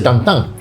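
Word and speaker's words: Tintin: En francés se pronuncia tantan, entonces le puso tantán como joda.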